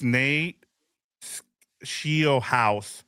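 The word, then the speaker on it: Nate Scheelhaase: It is Nate Shieldhouse, like Shield House or Shield Haas.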